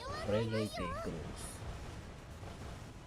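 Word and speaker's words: Friedrich der Große: No, Gros. Let's pronounce it right. Frederick de Gros. Gros. I pronounce it with Gros, which is definitely correct.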